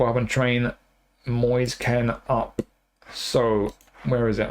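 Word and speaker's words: Moise Kean: And our second striker is Moyes Ken. I'm going to say it like that this time. It seems like every commentator has a has a different pronunciation. Moyes Moyes Ken Keen Kane. I'm going with Moyes Ken this time.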